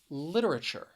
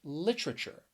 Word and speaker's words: literature: have for you is literature or somebody could say literature so you could pronounce it with four syllables or three syllables with it with either